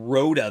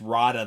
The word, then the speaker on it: Rotta: I've been calling him Roda the Hutt my entire life and then they've only exclusively pronounced his name as Rada in the movie. So, I have to break that. I have to break that habit of calling him Roda the Hutt. He's Rada the Hutt.